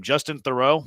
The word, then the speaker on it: Justin Theroux: Justin Theroux. Is that how it's pronounced? Yeah, he was on. You said it right.